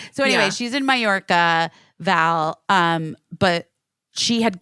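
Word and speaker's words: Mallorca: who's in major Ma how do you say that mayor oh yeah yeah that's that that's how you say it but I but it's spelled ARCA so in my head I have somewhere mayorca so she's in mayorca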